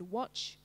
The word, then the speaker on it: watch: Remember there's three sounds, W, O, ch, but one silent letter, so you'll put that in.